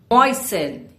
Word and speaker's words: moisten: Moisten. You don't pronounce the T.